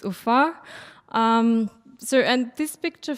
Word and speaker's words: Ufa: name of the capital of our Republic It's UFA um so and this picture for me illustrates